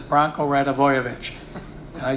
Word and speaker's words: Radivojevic: I was calling him Stojanovic and everything. And finally, the end of the period, I went back to them and I said, tell me again, how do you say this name? Branko Radivojevic.